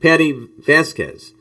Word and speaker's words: Patti Vasquez: here with Patti Vasquez. Is how you pronounce her name.